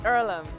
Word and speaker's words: Earlham: Is it pronounced Earlham? It's Erlam.